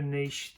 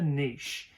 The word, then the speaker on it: niche: book you remember finding the niche or niche depends how you pronounce it is one thing to